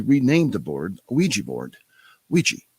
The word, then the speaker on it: Ouija: Ouija. Yeah. And it's spelled weird. O U I J A.